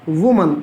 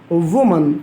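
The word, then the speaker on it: woman: हैं तो वह मन कुछ लोग इसको बहुत ही गंदे तरीके से बोलते हैं और वह कहते हैं वूमेन जो कि बिल्कुल गलत है कि हम दोस्तों इसको करने का तरीका होता है वह मन जीता दोस्तों मेरे साथ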